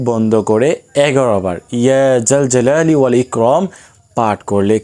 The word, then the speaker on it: জাল জালালি: জাল জালালি বললে হবে না, জাল জালালি, জিমের উচ্চারণ আর কি, হরফ জিম হরফ আর কি।